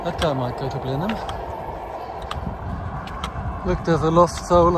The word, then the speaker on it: Blenheim: at that lenam 100 you would pronounce it as it's written in German it would be Blenheim that guy might go to Blen him look there's a lost